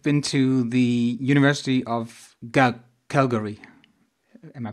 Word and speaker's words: Calgary: You've been to the University of Calgary. Am I pronouncing it right?